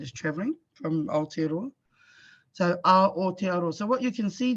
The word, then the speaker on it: Aotearoa: So what you can see there is actually our syllables in our language are all broken up with vowels. So wherever there's a vowel, usually wherever there's a vowel, that's the end of a syllable.